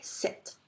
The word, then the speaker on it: cet: voyelle, à ce moment-là, je vais écrire CET et je vais le prononcer set.